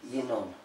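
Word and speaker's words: ינון: It means when we write the Torah, it is written Yanin. When we pronounce it, we say Yinon.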